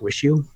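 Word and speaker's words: WIXIW: called the seer liars particularly this album called wish you which is spelt wi x IW but it's pronounced wish you pretty much anything from qualia grails or apps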